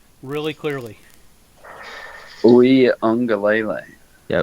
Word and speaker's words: Uiagalelei: Go ahead and pronounce his last name really clearly. Uiagalelei. Yeah, Uiagalelei.